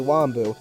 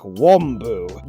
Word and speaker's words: Wambu: Some people go way too deep on the ah sound. They're like, Wambu. You gotta go kind of in the middle.